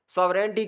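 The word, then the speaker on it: sovereignty: सॉवरेंटी कहते हैं, आज इसकी देख लें प्रोनाउंसिएशन देख लें, सॉवरेंटी, ठीक है। इसमें जी भी साइलेंट है, जी को आपने पढ़ना नहीं है।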